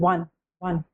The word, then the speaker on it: one: तो because it is pronounced as w and one, not on.